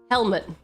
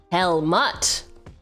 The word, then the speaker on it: Helmut: Helmet. The U is pronounced. Helmut.